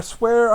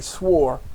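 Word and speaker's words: sware: the land which I swear unto their fathers to give them. Should say swore, not swear. It's not the swear that you think of. S-W-E-A-R. It is spelled S-W-A-R-E. The letters are different.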